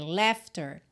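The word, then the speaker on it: laughter: l a u g h t e r lefter Yes it is Ok le I Taste the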